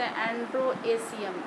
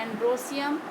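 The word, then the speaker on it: androecium: और इसको स्टेमेन को बोलते हैं एंड्रोसियम, सीधे सीधे बोलते हैं, स्पेलिंग उसी तरह से एंड्रोएशियम, ई लगाते हैं इसलिए, लेकिन बोलते हैं एंड्रोसियम।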